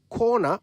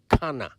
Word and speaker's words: corner: that the word is corner and not Kana I do hear people say Kana quite often but the word is spelled c-o-r-n-e-r corner it is the point